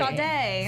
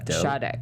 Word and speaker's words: Sade: Sade. Sade. Yeah. Sade, babe. Sade? Sade. If it's like the singer, Wait, like the singer?